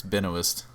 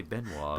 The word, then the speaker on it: Benoist: I think, I thought it was I think it's just Benoist. Benoist. That's how she Is says it really? I've heard everyone say Benoit.